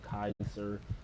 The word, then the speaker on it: Caesar: Joshua Grim called Caesar Caesar, but Caesar prefers being called Kaiser. The way um either the Romans would either pronounce it or the way they would pronounce